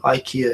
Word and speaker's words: IKEA: IKEA um in Japan, IKEA is pronounced IKA is going to set set up an online store with 9,000 goods.